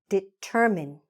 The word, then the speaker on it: determine: We're stressing the middle, determine, and we are not saying this E, okay? It's not long. Just forget it. Forget that E. Determine. Don't forget it when you're spelling. Just forget it when you're saying it, okay?